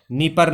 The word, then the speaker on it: Dnieper: ये यूक्रेन है, इसकी राजधानी कीव है, और राजधानी कीव के बीचों बीच से एक नदी निकलती है, इसका नाम है नीपर नदी, DNIEPER, डी साइलेंट है।